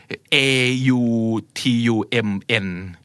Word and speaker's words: autumn: AUTUMN but you don't pronounce the N at all right autumn Yes.